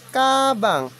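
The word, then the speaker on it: 가방: Ang basa po diyan ay kabang.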